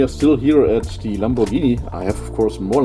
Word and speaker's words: Lamborghini: still in Italy Lamborghini some people are mispronouncing it as Lamborghini but it's Lamborghini um this is oh